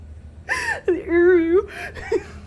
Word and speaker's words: Uru: That really is how it's pronounced? I love that so much. Uru.